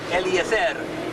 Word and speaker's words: Eliezer: Eliezer. Eliezer. Eliezer, that's it. Got to get that trill in there.